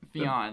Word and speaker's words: Fionn: Fionn, that's how.